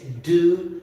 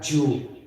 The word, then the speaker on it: dew: to the dew point d e w the pronunciation is do Point not Jew or K2 Point okay what is